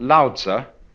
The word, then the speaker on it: Lao Tzu: The counterpart to Confucius, one called Lao Tzu, which is spelled Laotzu, is supposed to have been